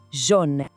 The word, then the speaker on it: jaune: Tem que fazer um biquinho, como se fosse dizer Jô. Vamos tentar, Jon.